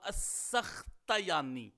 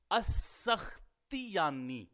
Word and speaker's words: السختیانی: کا فتحہ لکھا ہے، تو اس اعتبار سے تلفظ ہوگا السختیانی تا کے اوپر۔ لیکن یہ بات آپ ذہن میں رکھیے گا کہ تا کے نیچے کسرہ ہی راجح ہے، جو علامہ سمعانی نے کہا ہے السختیانی۔ اسی طرح ہی امام